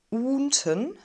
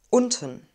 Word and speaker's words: unten: unten unten unten unten wir haben ein kurzes offenes und vielleicht habt ihr gehört dass es so ähnlich klingt wie ein wir sagen nicht unten sondern unten das buch steht ganz